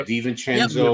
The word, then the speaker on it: DiVincenzo: DiVincenzo, or did I say his name right? Yeah, DiVincenzo. DiVincenzo, yeah.